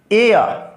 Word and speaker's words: heir: एन एयर, HEIR, क्या कहा? एयर, है ना, HEIR, एन एयर, इसको बोलते एयर में होता उत्तराधिकारी, एयर, है ना। एच साइलेंट है।